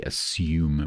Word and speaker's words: assume: So, I I would say assume with a y sound.